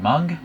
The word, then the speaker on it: Meng: called Meng, or other people pronounce it Mung. I'm gonna go with Meng.